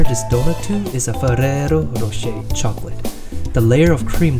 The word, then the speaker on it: Ferrero Rocher: Excuse my pronunciation, I was trying my best to pronounce the chocolate in its native language. Ferrero Rocher.